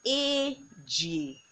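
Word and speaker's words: ejie: Four, and four is a g. You see, whenever we have e, we pronounce it as a g, a g.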